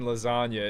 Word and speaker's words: lasagna: in silence like lasagna, because the G in lasagna isn't really doing much.